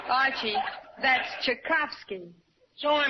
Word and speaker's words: Tchaikovsky: Tchaikovsky, and Debussy, Puccini, Bach, Tchaikovsky. Archie, that's Tchaikovsky. So I mispronounced one of them.